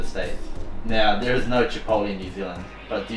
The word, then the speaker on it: Chipotle: My mum says Chipotle. She'll never change. She says it every time, but it is Chipotle.